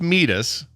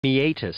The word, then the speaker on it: meatus: second here's the thing that's meus but I think it's pronounced meatus meatus so when we say yeah it's never meus it was never meus it so I got